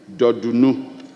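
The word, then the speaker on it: Dordunu: The Dodunu is spelled D-O-R-D-U-N-U. Dodunu.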